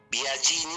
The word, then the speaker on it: Biagini: se pronuncia Franchini porque es con CH, así como Biagini se pronuncia así, aunque es con G, pero claro, bueno, hay